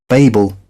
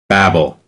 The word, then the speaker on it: Babel: depends on your accent I think it depends on where you're from Babel Babble but I'm gonna go